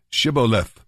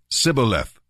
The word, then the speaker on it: Shibboleth: tell him to say Shibboleth if he was from ephraim he would say Cybil F because people from Ephraim cannot pronounce the word correctly then they would take